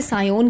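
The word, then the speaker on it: scion: वैसे स्पेलिंग तो SCIO है ना, स्कायोन भी कह सकते हो स्पेलिंग लर्न करने के लिए, इसे सायोन कहते हैं।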